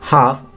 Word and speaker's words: half: यहाँ हाफ ओड वन आउट है, circle करेंगे क्योंकि बाकी तीन में टी साइलेंट है और हाफ में एल साइलेंट है।